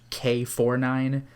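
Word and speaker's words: K9999: this one is k999 which i think is actually pronounced k49 oh japan just does that yeah like galaxy express 999 is galaxy express three nine you know it's just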